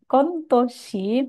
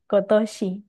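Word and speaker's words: 今年: Jadi bukan kontoshi, melainkan kotoshi, tahun ini.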